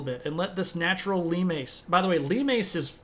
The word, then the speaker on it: limes: something that are called Lem now I know this looks like limes but it is pronounced Lem uh and hadrien understands that